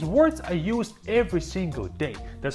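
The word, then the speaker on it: да: both of these words I use every single day that's how you agree a waiter a flight attendant a cashier at a store you come and says to them the next word is da that and it means yes when you agree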